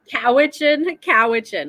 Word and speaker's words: Cowichan: We have, so from Nova Scotia to Vancouver Island on Cowichan, like a cow.